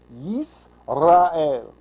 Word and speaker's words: Yisrael: Yis, not yes. I know I do that all the time. Yisrael, that's how you say it.